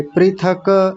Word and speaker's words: पृथक: क्या है पृथक पृथक एक सज्जन अभी बोल रहे थे पृथक पृथक यानी यह वाला बीच का जो क है इसको पूरा बना रहे थे पृथक ऐसा नहीं पृथक आधा है तो आधा ही बोलेंगे